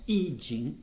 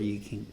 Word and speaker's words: Yi King: En chinois, on prononce I Ching, mais en français, on a l'habitude de franciser les noms, donc on va continuer à dire Yi King.